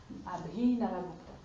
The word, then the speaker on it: Abhinavagupta: J'ai parlé de Abhinavagupta, oui, qui est un philosophe du Cachemire. Comment tu écris ce nom? Abhinavagupta. C'est comme ça se prononce, mais c'est avec BH. Abhinavagupta.